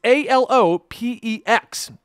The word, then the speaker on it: Alopex: numerous situations and if you're curious about the pronunciation i actually googled this one to ensure i was saying it right but it's a-l-o-p-e-x and if you look it up it's a-lopex